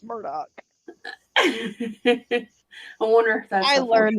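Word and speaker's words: Murdaugh: it's so it's just it's spelled like murder though i know but it's murdock i wonder if i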